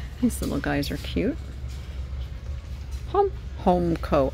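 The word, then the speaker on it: Homco: little guys are cute homeco i always get corrected when i say hamco it's home co even though it's spelled hamco it's spelled hamco if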